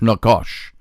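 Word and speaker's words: נחש: book of Genesis for the word serpent is Nakash Nakash it's na CH a SH pronounced na W caution aakash Nakash c hebrew word and it's got a definition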